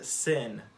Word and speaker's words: שׂ: have the hebrew letter sin and it makes an s noise sin there it is right there and don't get confused i know that it's pronounced the same way as our english word sin but they they aren't